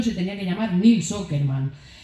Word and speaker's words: Åkerman: Ya el apellido, que se escribe Åkerman, se pronuncia Åkerman, pero claro, quería poner un nombre sueco porque Nils es muy sueco, entonces tiene que tener una letra que solo esté en sueco, que es una A con una redondita arriba. Se pronuncia O, secretillo, chicos.